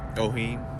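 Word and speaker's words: Owyhee: Tactical Solution, the Oheen, if that's how you pronounce it. How do you pronounce that, Tony? Oheen.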